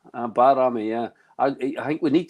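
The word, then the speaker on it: Bajrami: given apparently it's not baj Rami the J is silent it's barami so call him B barami yeah I think we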